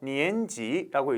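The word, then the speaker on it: 年纪: 니엔지라고 있습니다. 니엔지, 싼 니엔지. 그렇죠? 3학년이죠. 이 발음은 여러분들요, 니엔지라고 발음합니다.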